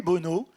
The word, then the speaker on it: Bonneau: Et je l'ai appelé Bono. Ça s'écrit pas pareil. Ça s'écrit E-A-U.